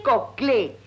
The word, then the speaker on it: Coclé: en la dirección sobre no se dice con clay se dice coclé y la capital éste no no me y no se olvide del acento porque es muy importante gracias señorita pero yo